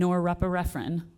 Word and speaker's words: norepinephrine: The same neurotransmitters that are linked to common mental health diagnosis, such as dopamine, serotonin, here it comes, and norepinephrine. Did I say it right? Yep.